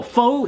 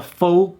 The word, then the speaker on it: pho: The Pho King Way. So yeah, the Pho King Way. And it's not pho, it's pho. Yeah, so you're correctly. At least I think that's how the Vietnamese pronounce it or whatever.